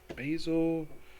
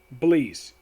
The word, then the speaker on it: Bleez: Is that Basil? It is Bleeze.